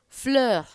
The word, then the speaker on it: fleur: It can also be lighter. E-U or O-E-U can also be a lighter E. Fleur.